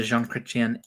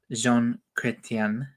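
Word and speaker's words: Chrétien: many years, like after the Jean Christian era ended, Jean Cretian. I'm trying to be more respectful to the Canadians and trying to get the pronunciation right, not to say I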